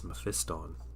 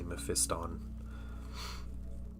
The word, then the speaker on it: Mephiston: And I it made me uncomfortable how he was pronouncing Mephistan. Meiston. This is Mephiston. Mephiston's going here. Meiston's going to attack. And like my whole body would just tense up when he would say me fiston.